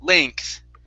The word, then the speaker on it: length: or sorry the e the uh eng together it's going to be an a sound so this is laying length length length one more